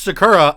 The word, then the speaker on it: Sakura: know Sakura the the Chinese place it is pronounced Sakura I have asked like them yes them is